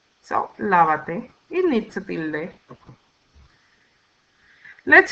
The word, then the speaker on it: lávate: Now we need to comply with the fourth rule of stress that tells us that on the third to the last syllable or the fourth to the last syllable, we always need a written accent mark or tilde.